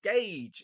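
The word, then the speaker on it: gauge: doing it because it's gage it's a nice it's spelled gorge but it's gage it's pronounced gage i am stupid it's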